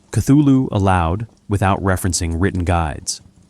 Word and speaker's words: Cthulhu: The U is about like that in full and the first syllable is not unlike cl.